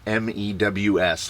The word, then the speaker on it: MEUS: So from the audacious posting of the comment that simply said Gary Mcy, once I found out that in Latin it's pronounced MEWS, like a cat goes mew.